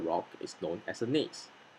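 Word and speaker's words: gneiss: is known as a nase take note not to pronounce the g let's pronounce this word together one two three nais well done metamorphic rocks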